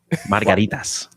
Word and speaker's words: margaritas: Roll your R's a little bit more. Here we go. You say it, Rico. Let me hear you. You say it, Rico, like a real Puerto Rican. Margaritas.